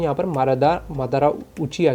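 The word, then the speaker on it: Madara: एंड उसके बाद में यहाँ पर मादारा उचिया की एंट्री होती है।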